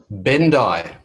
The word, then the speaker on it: Bendich: Bendai. Bendai. Bendai. Bendai. So we don't pronounce the CH, and it's Bendai. All right. So, well, maybe you don't. Maybe you do in Germany, but in Australia we don't.